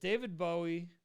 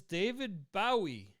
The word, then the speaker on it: David Bowie: Is it David Bowie?